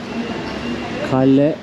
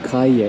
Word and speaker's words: calle: Kalle yok. Nasıl okunuyordu bu? Calle. 2L olunca İspanyolca'da Y diye okunuyor.